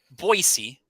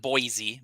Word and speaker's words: Boise: I do have a guest with me today, Anthony Boyd Remodeling and Construction, out in beautiful Boise, not Boise, Boise, Boise.